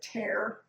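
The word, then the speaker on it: tare: out there's a button it's a t-a-r-e i pronounce it tear but you know that might not be right but when you hit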